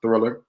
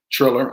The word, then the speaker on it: Triller: absolutely shout out to thriller triller i should say uh you know i've been having a hard time pronouncing it but i'm gonna get it together i believe it is triller so shout out to